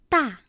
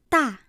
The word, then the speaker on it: 大: So how do we pronounce this character? 大, 大, big.